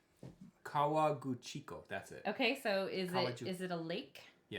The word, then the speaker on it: Kawaguchiko: I'm going to try to pronounce this. Ready? Okay. Kawagujiko. That sounds about right. Kawaguchiko.